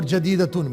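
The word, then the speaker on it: جديدة: جیم کے اوپر فتحہ، دال کے نیچے کسرہ، یا کے اوپر سکون، دال کے اوپر فتحہ اور راؤنڈ تا کے اوپر تنوین.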